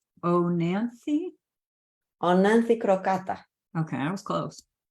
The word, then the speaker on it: Oenanthe: And then the next three, how do you pronounce this one? It's Oenanthe? Oenanthe crocata.